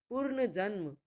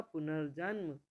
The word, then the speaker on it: पुनर्जन्म: है वो थ पर पूर्ण जन्म सही होगा पुनर्जन्म अब मैंने बता दिया आपको दो-तीन बार तो आप समझ में आ गया ना कि हम र का उच्चारण कहां करेंगे और वह लिखा कहां जाएगा तो पूर्ण जन्म सही